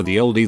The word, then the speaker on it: ye olde: The ye and ye olde is actually abbreviated as an early modern English letter called Thorn that was pronounced like th, so it's pronounced more like our the oldie than anything else.